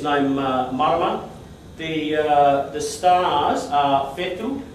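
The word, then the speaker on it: whetū: The stars are Fetu. The WH is normally pronounced more like an F to us in English.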